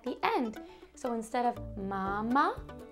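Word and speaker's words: mamá: an accent at the end so instead of Mama it's mama can you say it Mama M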